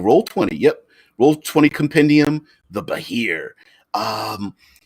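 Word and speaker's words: Behir: Um, Pronounced Bahir.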